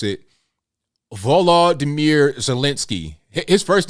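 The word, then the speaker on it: Volodymyr: type names um okay I'm gonna try to pronounce it Volo damir zielinski his first name is spelled v-o-l-o-d-y-m-y-r for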